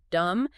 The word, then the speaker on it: dumb: Immediately after delivering the insult, Trump explicitly pauses to explain to the audience that most people don't know the word dumb ends with a silent B.